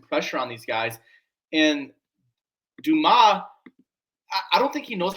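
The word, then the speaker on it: Dumas: Alfred Dumbass, it's pronounced Duma.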